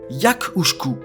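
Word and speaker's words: each-uisge: en ce moment bah ça se prononce en géque yakouku alors oubliez le petit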